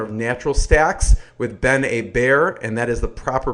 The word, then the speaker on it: Hebert: Krebs he's co-founder of natural Stacks with Ben a bear and that is the proper pronunciation natural Stacks creates open-source dietary supplements for